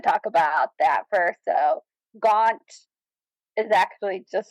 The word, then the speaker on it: Gaunt: about that first so gaun is actually just it's less exciting than it sounds it's just how the English pronounced uh gent back in the day gent and Belgium so